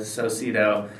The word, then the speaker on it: Socedo: and relationship dynamics uh a penguin also wears a tuxedo which rhymes with socido and so i've got